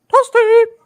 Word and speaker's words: Toasty: those were good effect toasty Yeah Toast toasty no no no no no no no it's pronounced like this in Mortal Kombat toasty yeah there you go